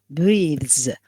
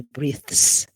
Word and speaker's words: breathes: with th or okay it's z sound breathes we don't say breaths okay we say breathes z z because it's a the sound not th sound okay shall we do